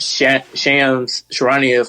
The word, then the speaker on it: Shams Charania: And one thing that Shams Charania from Yahoo Sports said, The Athletic, said is that that's how you say his name?